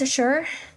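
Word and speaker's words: Shure: Is it pronounced a sure or is it like sheree? If you say the the word s h u r e, would you do you pronounce the e at the end? It's just it's just sure.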